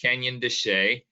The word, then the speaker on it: Canyon de Chelly: looks like canyon de chelly um it is pronounced canyon de che and it is jointly managed both with the